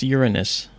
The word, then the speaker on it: Uranus: And DK, it's pronounced Uranus, not the other. The other's funny, every 15-year-old loves it, but it's Uranus.